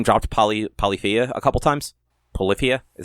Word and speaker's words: Polyphia: But, like, he name dropped Polyphia a couple times. Polyphia? Is that how you pronounce it? Polyphia, yeah.